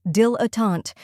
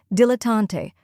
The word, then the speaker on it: dilettante: the correct pronunciation is Dill aant let's break it down first we have Dill which sounds like Dill as in dill pickles next is uh a